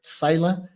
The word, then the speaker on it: Psaila: I'm pronouncing that right. Sila, right? Well done.